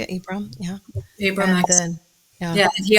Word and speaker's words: Ibram: X kendi is that how you say it ibram yeah ibr yeah yeah he also wrote a